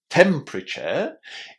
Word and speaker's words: temperature: We pronounce this ending in a very similar way to the word chair. The only difference is that the chair at the end of temperature is a little bit shorter.